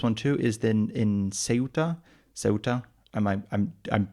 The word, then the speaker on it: Ceuta: too, is then in Ceuta. Ceuta. am I am I'm for sure Ceuta. I'm I'm my head is like Chuta, which is the Italian pronunciation, which is not the remotely Spanish pronunciation, but it's the Spanish